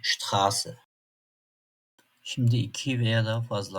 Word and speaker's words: Straße: Örneğin "grün" ß harfimizi asla b gibi okumuyoruz. "s" gibi okuyacağız. Örneğin "Straße".